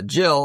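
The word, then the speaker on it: Jyl: Uh Jill, and that's spelled W or J Y L. And if she was Hispanic, it'd be Yel.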